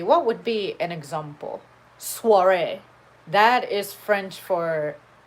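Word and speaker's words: soirée: but you know that in french oh i has a wah sound so you wouldn't know that that's not soy rey or soyre or suari sorry it could be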